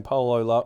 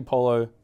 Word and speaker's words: Polo: Education First I think a lot of people have been saying Paulo Ralph Lauren yes but for the people in the know yes it's actually Polo Ralph Lauren absolutely we've been saying